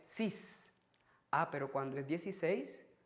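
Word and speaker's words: six: Fíjense que hasta el número 6, que termina en una X, no se pronuncia como X, se pronuncia como S. 6.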